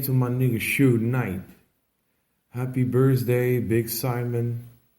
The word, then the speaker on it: Suge: His name Suge, pronounced Suge, derives from Sugar Bear, a childhood nickname.